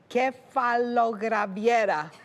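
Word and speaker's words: κεφαλογραβιέρα: The next thing we add, 100 grams of Greek cheese called, you have to pronounce this properly, kefalograviera.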